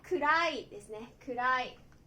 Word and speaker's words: 暗: Nó có thể được đọc là "kura_i" hoặc "an."